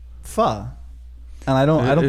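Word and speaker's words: phở: they say i can't pronounce pha but it's pronounced pha and i don't i don't think people believe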